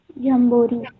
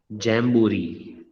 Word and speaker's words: jamboree: How do you pronounce it? Jambori. Chumbori. It is jamboree.